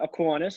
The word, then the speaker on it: Aquinas: junior of Cronulla and playing with, is it Aquinas? Is that how you pronounce it? The Colts? Yeah, pretty close. Yeah, Aquinas.